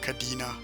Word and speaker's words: Cadena: It's probably Cadena or Cadena, but I'm gonna pronounce it the Spanish way, Cadena.